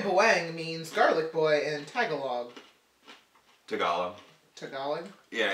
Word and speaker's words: Tagalog: means garlic boy and Tagalog Tagalog technology yeah it's tagalog tagalog ok put the emphasis on the wrong celeb pandan cake is the